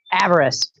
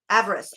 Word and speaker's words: avarice: Avarest. Avarest.